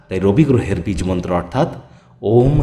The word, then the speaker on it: ওম: আর এই ওয়ের উচ্চারণ পেট থেকে, অয়ের উচ্চারণ গলা থেকে, আর ময়ের উচ্চারণ মাথা থেকে হবে। আমরা কিন্তু এই ওম শব্দ উচ্চারণের মাধ্যমে আগে